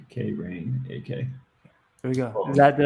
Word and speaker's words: Krainak: i n a k cranach k rain aka there we go that